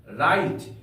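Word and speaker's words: write: आर आई टी ई राइट यहां पर डब्लू का उच्चारण नहीं किया गया है राइट का अर्थ होता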